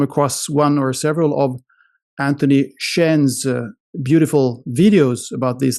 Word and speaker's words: Anthony: pleasure or is it antoan actually no no no it's and in French it's anony but Anthony in English or whatever but it's my real